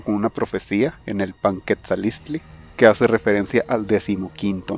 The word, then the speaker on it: Panquetzaliztli: puede ser mejorado con una profecía en el Panquetzalistli, que hace referencia al 15º mes dedicado a Huitzilopochtli. Panquetzalistli. Panquetzalistli. El escudo que vimos al principio es bastante difícil de pronunciar debido al apóstrofe.